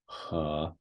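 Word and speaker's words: 河: So, for example, this meaning river, he. So again, this is pronounced he.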